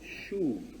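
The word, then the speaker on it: שוב: Pero el verbo hebreo ahí es el verbo shuv, se pronuncia así, shuv.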